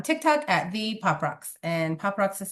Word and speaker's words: PopRoxx: And PopRox is spelled POPROXX.